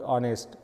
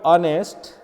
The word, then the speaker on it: honest: we have a word honest in the word honest H is silent so we pronounce this word like honest okay the next sounds